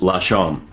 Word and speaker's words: Lasham: all but that's okay how do you say it it's lasham oh my God just